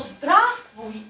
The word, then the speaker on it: здравствуй: Okay, so the first V you do not pronounce. Okay? So Z, D, R, A, then you don't pronounce. Z, T, V, U. So здравствуй and привет, they're synonyms.